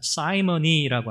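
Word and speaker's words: simony: 그래서 이 시몬, 영어로는 사이먼이라고 읽거든요. 이 시몬, 성직 매매라고 하는 영어 단어가 있어요. 사이머니라고 하는 단어가 있어요.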